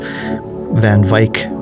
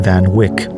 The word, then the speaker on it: van Wyk: So in the last episode, I've called Van Wyk Mr. Jason van Wyk, as in the Keanu Reeves character. It's pronounced differently. I stand corrected. It's Jason van Wyk, like bike.